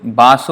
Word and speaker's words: Vasu: So Basu or Vasu is the same, again Bengali pronunciation.